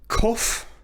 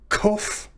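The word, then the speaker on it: qof: word next character is kof koff this is a letter that makes the sound of the english letter k in king just like koth with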